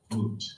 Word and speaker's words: Smoot: Moot, like M-O-O-T, like a moot point.